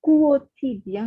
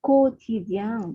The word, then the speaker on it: quotidien: Oui, manager, puis ce n'est pas quotidien, mais quotidien. Vous ne prononcez pas U.